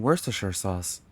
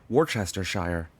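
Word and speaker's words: Worcestershire: It's like, "Yeah, I was having issues with pronouncing worst sauce. I'm pretty sure that's how it's pronounced. Not worst or worshshire or worstersh.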